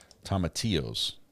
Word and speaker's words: tomatillos: Tomatillos. Oh, the L is silent.